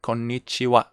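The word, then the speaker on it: こんにちは: ha like ohio you don't read oh or konnichiwa you don't say konnichiha okay so there are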